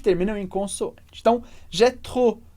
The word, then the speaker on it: trop: Então, j'ai trop envie de faire, a gente não pronuncia o P de trop.